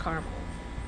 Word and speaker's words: caramel: How do you pronounce caramel? With 3 syllables, with 2 syllables? I use both pronunciations interchangeably. With 2 syllables, caramel.